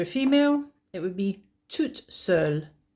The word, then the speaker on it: toute seule: Uh and if you're a female, it would be toute seule. So notice how the spelling is different, but also the pronunciation is different. So je suis ici tout seul or toute seule.